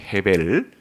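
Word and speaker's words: 헤벨: 단어의 그러니까 이제 어 그 아벨 이라는 말이 어 좀 더 발음을 정확하게 하면 혜린 데 어 원어에 가깝게 발음하면 해 벨 어 쉽게 바람인 아벨이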